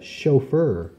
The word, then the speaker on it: chauffeur: hangs from the ceiling so there's lots of words with ch where the CH makes the sh sound of shh let's write some down